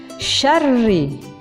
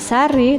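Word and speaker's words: شرّ: Ayat keempat, min syarri. Nah, di sini ada ro tasdid, maka dibacanya tebal, tidak sari tapi syarri.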